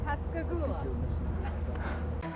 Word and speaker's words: Pascagoula: You said it right. Pascagoula.